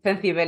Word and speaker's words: Cencibel: grown in Toledo, called Cencibel. It has a difficult name to pronounce, so that's why we don't put it again. Cencibel. Cencibel, it's like sensible, but with a th.